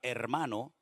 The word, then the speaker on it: hermano: Se pronuncia exactamente igual, pero es cuestión ortográfica.